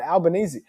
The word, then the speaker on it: Albanese: Oh, I don't even know Albanese. how it's fucking pronounced. Albanese. Right, Albanese.